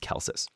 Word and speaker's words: Celsus: So people just call him Celsus just to like make it. And it's spelled with a C. It's like Celsius minus the I, but it's pronounced Celsus.